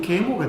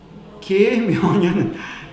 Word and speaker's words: 계묘년: 발음을 잘해야 됩니다. 까딱 잘못하면 계모가 됩니다. 계묘년 2023년 되었습니다.